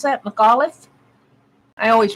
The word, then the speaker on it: McAuliffe: coming to me Anthony McAuliffe is how you pronounce that McAuliffe I always pronounce things wrong nuts he his